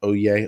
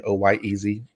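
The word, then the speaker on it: Oyez: In case you ever want to know how to pronounce that, it's pronounced Oye, O-Y-E-Z, Oye.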